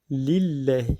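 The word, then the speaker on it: لله: Donc pareil, on a Alhamdu Lillahi. Donc on a un lam avant Allah. Il y a un i, donc maksour. Donc on dit Lillah.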